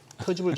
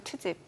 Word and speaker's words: 트집: 왜 발음 바꿔 터집을 잡으세요? 아니, 터집 아니고 트집.